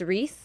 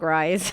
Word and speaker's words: Reese: I don't know what I'm asking you, but is his name really pronounced Reese? Are you sure? Yeah. Okay. Yeah. Because it's spelled really funky, so I was confused. I know it's spelled. That's cool though. No, but I would have said like Rise. Nope, that's actually how you pronounce his name. Reese.